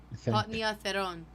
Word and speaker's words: Potnia Theron: Potnia Theron. Potnia Theron. The wrong emphasis on the wrong syllable.